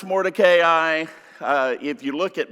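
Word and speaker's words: Mordecai: came up to me and they said you're mispronouncing Moray his name is morai and I said how do you know that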